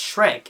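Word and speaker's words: Schreck: name is Max Shrek It's s c hre e c k so it's just kind of a weird way of spelling Shrek I guess um correct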